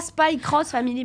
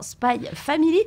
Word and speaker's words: Spy x Family: jour ce spécialité puisque c'est pas spy cross family mais bien spy family un quart à design